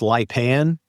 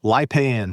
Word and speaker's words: Lipan: That's pronounced Lipan, right? Yes. Kind of Lipan.